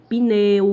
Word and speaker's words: pneu: pronunciada, mas não escrita, que é o pneu, que você pensa que tem o som do I, né? Tem o som do I, só que é mudo, ele não está escrito. No caso, pneu, adaptar, olha o som do I depois do P, né?